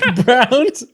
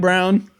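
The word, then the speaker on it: Braun: this is the Denver Nuggets that is Christian Brown as a shooting guard the white brown great pick it's pronounced Brown not brown finally finally cuz I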